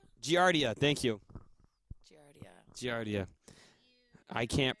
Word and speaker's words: Giardia: of gr diocese is a real disease it's Giardia thank you giardia I can't pronounce no not right now yeah I did